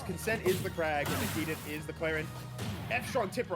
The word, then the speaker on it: McEdith: And we're already seeing a nice, strong start from, how do you pronounce that? McEdith? McEdith, okay, thank you.